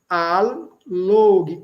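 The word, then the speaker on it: allogi: Log, olha aí, log é atrair agora nós temos embaixo al log, dois ls, os dois ls são pronunciados al log, também atrair.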